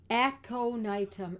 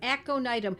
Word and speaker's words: aconitum: Jen you go aconitum aconitum a this these words if they're new to you they are spelled phonetically because they are Latin aconitum AC o n i t m aconitum sometimes known as aconite